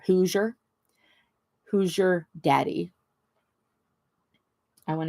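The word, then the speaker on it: Hoosier: who's your daddy but it's spelled h o o s i e r whoer who your daddy I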